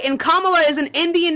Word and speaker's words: Kamala: No complaints here, but he has better policies than Camilla. Name them. It's Kamala. There's no I in her name. It's 3 fucking syllables. She's Indian. Right, and Kamala is an Indian name.